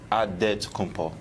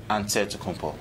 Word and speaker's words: Antetokounmpo: You gotta say with a D, so it's adetokounmpo. But in the Greek way, you say with an NT, like antetokounmpo.